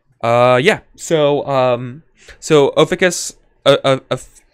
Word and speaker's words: Ophiuchus: Yeah, it's Ophiuchus. Ophiuchus. Ophiuchus. Yeah. Ophiuchus. Okay. Oh yeah. So emphasis on the first syllable.